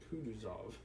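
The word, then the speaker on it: Kutuzov: anna pavlovna general kud kuduzov said volkowski speaking french and stressing the last syllable general's name like a frenchman has been pleased to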